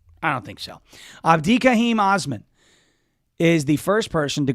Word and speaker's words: Osman: So it was Osman, by the way, O-S-M-A, and I think it's pronounced Osman, but not Osmond with a D, O-S-M-A-N.